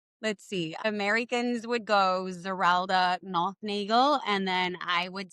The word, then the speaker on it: Zerelda: Well, how do you pronounce it first of all? Zeralda.